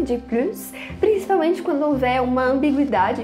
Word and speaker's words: plus: mostrar a diferença, do "plus" quando ele é negativo e quando ele é positivo as pessoas começaram a pronunciar o S quando havia essa ambiguidade e quando o sentido dele era positivo quando as pessoas querem